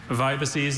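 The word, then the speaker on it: vibices: Vibaces. Vibaces. Could I get all the information, please? Vibaces is a plural noun from Latin.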